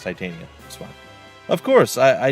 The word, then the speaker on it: Titania: that's where you went tatiana or see there we go titania i can't help it